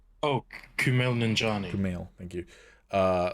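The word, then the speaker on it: Kumail Nanjiani: wanna say for uh i always forget to pronounce his name ninjali oh kumail ninjani camille thank you uh like i think his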